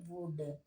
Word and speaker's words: would: अब हम इसे वुल्ड नहीं पढ़ेंगे, अब हम इसे पढ़ेंगे वुड, ओके।